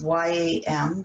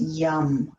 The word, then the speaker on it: yam: Again, it's Y-A-M, but it's not pronounced yam. It's pronounced yum, like the yummy heart.